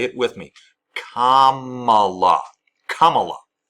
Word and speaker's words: Kamala: way to pronounce it Kamala Kamala it's not hard say it with me Kamala Kamala Kamala Harris it's not hard it's not Cala or As Trump will say it sometimes Camila Kamala it's not hard I